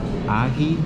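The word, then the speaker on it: ají: I think it's called ahi. It's spelled A-J-I, so.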